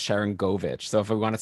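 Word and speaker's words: Sharangovich: apologize uh i guess i also said shirangavich at the start i know it's sharon govich so if we want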